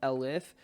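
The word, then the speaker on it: elif: ahead and learn is something called alif so it's spelt like el if and it's the combination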